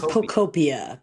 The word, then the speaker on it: Pokopia: How do you think it's pronounced? I don't think they would butcher Pokey, so I think it would. I think it would be Pokeopia. Pokeopia? Pokopia? I don't know. Pokopia sounds right.